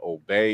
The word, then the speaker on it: Obey: Last name is OB, even though it's spelled Obey.